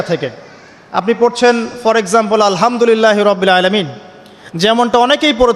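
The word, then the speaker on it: الحمد لله: তো আলহামদুলিল্লাহ না বলে সে বলেছে আলহামদুলিল্লাহ। তো যে হায়ের উচ্চারণ পরিবর্তন হয়ে গেছে, এই কারণে অর্থ পরিবর্তন হয়ে দাঁড়াবে যে সমস্ত নিন্দা আল্লাহর জন্যে, যিনি জগৎসমূহের রব।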